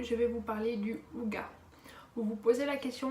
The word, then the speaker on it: hygge: Vous allez me dire, oui mais pourquoi tu dis Hygge alors que c'est écrit Hygge? Ça s'écrit Hygge, mais on y prononce Hygge.